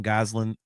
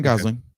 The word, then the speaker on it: Gosling: kind of questioning the Ryan Goslin uh thing or uh did I just get his name wrong? No, Ryan Gosling.